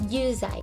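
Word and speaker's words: 有罪: of pitch accents but this is yuzai this means guilty the first kanji is pronounced you which means to have the second kanji means zai which means guilt or sin put them together and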